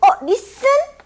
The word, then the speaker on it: listen: 그리고 listen? 뭐 이거 모르는 사람은 없겠지만 listen은 왜 적었을까? 발음이 나지 않고 있죠. listen. 스 발음까지 나지만 listen, T 발음 전혀 없어요.